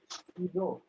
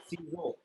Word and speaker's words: ciseaux: the spelling is Ciseaux. So this is Cizo. The pronunciation is Cizo.